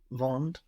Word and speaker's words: vendent: You thought about how it's written, which is good, but Ils nous vendent la voiture lundi.